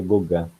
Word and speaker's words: Gauguin: É porque a gente escreve Gauguin, mas pronuncia Gauguin.